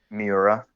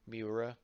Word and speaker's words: Miura: How do you pronounce his name? Miura. Miura.